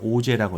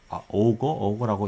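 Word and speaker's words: Auger: 이게 자, 또 다른 non-radiative recombination의 어떤 메커니즘으로서 이제 오제 리컴비네이션이 있는데 이걸 오제라고 읽어요. 프랑스 분인데 이제 오거라고 읽으면 좀 오제라고 이제 프랑스 발음으로 얘기하면은 그렇습니다.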